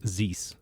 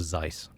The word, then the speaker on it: Zeiss: 99% of the time they mispronounce my name is Ze instead of Zeiss and if it's someone